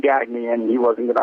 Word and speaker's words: Gagne: The correct pronunciation is Gagne. It's sort of, morphed into Gagne, got Americanized.